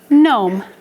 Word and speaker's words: gnome: but once again it's not just the letter n saying it's the letters g n g n g n